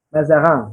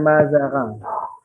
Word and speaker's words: Mazarin: Mazarang, bacanya Mazarang. Mazarang.